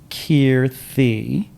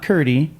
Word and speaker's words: Kirthi: Kirthi. It's like a th at the end. Kirthi. It's not Kirti. It's not Kirthi. It's not Kirti. It's Kirthi. And I think at this